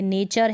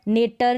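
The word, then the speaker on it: nature: जैसे कि इसमें है, तब हम टी को क्या पढ़ेंगे, च पढ़ेंगे, च पढ़ेंगे, जैसा कि इन सभी स्पेलिंग्स पे पढ़ने वाले हैं। जैसे कल्चर है, कल्टर नहीं पढ़ेंगे, नेचर है, अब इसको नेटर नहीं पढ़ेंगे, नेचर यानी कि प्रकृति,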